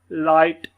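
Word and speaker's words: light: लाइट, हाइट, माइट, नाइट, ठीक है। इसको हम ये समझ लें कि ये GH जो है ना, ये अक्सर ही साइलेंट एक किस्म का हो रहा है यहाँ पर।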